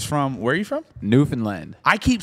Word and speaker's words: Newfoundland: Newfoundland. I keep saying Newfoundland. Actually, we call. It's the same We thing. actually Most people call it from powder away now, call though. it Well, Newfoundland.